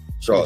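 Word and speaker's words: Shough: And believe it or not, like Tyler Shaw, however you I think it's pronounce Shaw. it. Shaw, It's Shaw.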